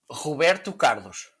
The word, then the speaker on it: Roberto Carlos: Roberto Carlos. It's like when I say backpack. You know, Okay. you roll your R's and it sounds cool.